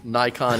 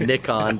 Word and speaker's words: Nikon: kind of like Mamiya nikon in nakhon depending on what side of the pond your own but there's only one